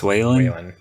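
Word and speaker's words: Whalin: certain how do you how you say his name justin whalen wallin yes it's waylon that's how i've always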